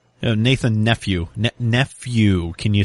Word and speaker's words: Nephew: your last name Nathan nephew NE nephew can you spell that for me uhhuh I can uh just like the word though if you need